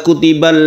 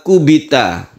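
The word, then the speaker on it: كُبِتَ: Kalau ini kama kubita. Nah, jangan salah. Kama kubita. Kama kubita, jadi di sini kubitu bukan kutibu, bukan kutiba, tapi kubitu kama kubita alladzina min qablihim.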